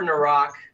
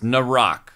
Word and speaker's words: Naerok: what does that mean oh god um before nck um oh I've been saying it wrong every time so it's narck yeah you have but you know I'm too